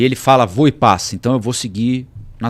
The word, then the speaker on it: Voepass: Vinhedo o voo da voo e paz e agora sabemos a pronúncia correta é vo e pass porque o presidente da empresa gravou um vídeo Segunda ou terça-feira E ele fala v e pass então eu vou seguir